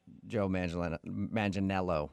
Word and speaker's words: Joe Manganiello: say he looks like Joe Manganiello, right? That's how you say it? Yeah. You got it. You nailed it.